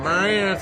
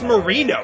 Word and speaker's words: Marino: name according to London it sounds like you pronounce somebody's name when you're drinking Mariana tonight what are you talking about do you know what I'm talking his name is Marino how hard is that Marino Tenaglia whoa